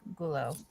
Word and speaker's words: Gullo: Gullo.